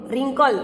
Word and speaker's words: wrinkle: तो when we read W in column 3 it has no sound। तो यहाँ पे 3 नंबर की कॉलम है, इसमें हम wrinkle बोलते हैं।